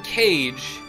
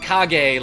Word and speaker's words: Kage: games and my man my man William cage who I I always want to pronounce it KAG like he's from Naruto but this guy reached